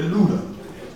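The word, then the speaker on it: Lydda: And in this town of Luda, and that's what it's pronounced, it's not Luda, it's really Luda.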